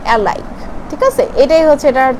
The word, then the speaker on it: Ailke: কোম্পানির সম্বন্ধে জানে না, এটা কিন্তু এলকি লেখা দেখতেছেন, AILKE। এটাকে লিখতে গেলে এলকি বলে, বাট এটা প্রোনাউন্সে আমরা বলি অ্যালাইক।